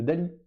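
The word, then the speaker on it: DALL-E: à ce qu'on appelait Dali donc Dali ça s'écrit Dall espace e enfin tirez eux et le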